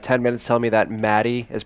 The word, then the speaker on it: Maddie: when you were AFK, they spent 10 minutes telling me that Maddie is pronounced Matey.